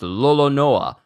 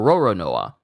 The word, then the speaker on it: Roronoa: In Japanese, Lolonois is pronounced Lolonoa or Roronoa.